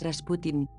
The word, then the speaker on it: Rasputin: Rasputin es la transcripción procedente de la pronunciación francesa, mientras que la forma correcta de la pronunciación rusa es Rasputin.